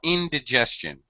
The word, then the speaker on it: indigestion: First of all, indigestion. Indigestion. Indigestion. First syllable stress.